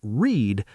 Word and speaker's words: read: And you learned that read in the past is still read, but we say it like the color red.